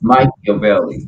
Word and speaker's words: Machiavelli: Tupac didn't say it right. It's Machiavelli.